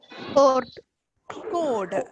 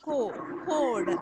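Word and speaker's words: chord: Code. It don't that R is silent. R is silent, and it is CH is CH is not cha. It is code.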